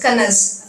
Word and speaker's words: connoisseur: The spelling is so much, the word is so long, but the pronunciation is only, 3 letters, Kanas.